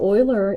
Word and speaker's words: Euler: easy to pronounce because we used to have the Houston Oilers and that's how you say his name boiler and so Euler is and you see